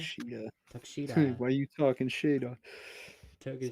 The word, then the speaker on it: Takeshita: That's how you pronounce Takshita. Takeshita.